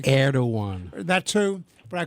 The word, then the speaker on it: Erdogan: They are no friend of the state of Israel under the current leadership of, I always mispronounce the name, and Eric always corrects me. I call it Erdogan. Erdogan.